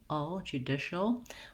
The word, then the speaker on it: judicial: And you can see in the dictionary, they may not even put any vowel sound at all here for this AL. It's a dark L. So you might put a short little schwa in there, judicial. Or you might just try to go right from your SH sound to your L sound as quickly as possible, shul.